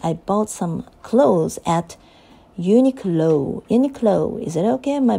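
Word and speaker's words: Uniqlo: to pronounce this word so I checked the pronunciation on YouTube a little while ago and uh it should be like uh uni low right o o sound at the end U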